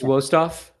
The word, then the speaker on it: Westoff: Kevin Ginger, Dave Provine, Matt Westoff. Can one of you guys correct me on the pronunciation, please? I think you're good there. I believe it's Wostoff.